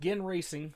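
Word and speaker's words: Ginn Racing: Okay, so it is pronounced Gin Racing for some reason.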